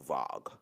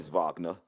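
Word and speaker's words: Wagner: France but that's crazy how w a is pronounced vog friend vogner uh he had 24.5 points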